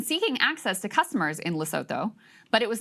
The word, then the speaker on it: Lesotho: Everyone's pronouncing Oh, Lesotho you don't say the TH, it's Something just like a that. T. Okay. I'm sorry, I didn't take the time Apologies, to learn. Lesotho.